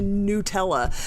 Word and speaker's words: Nutella: Adele said she's very proud to hear that I haven't reverted back to Nutella. You know, it's the logic of it. It's N-U-T, which is pronounced nut, so why would it be Nutella?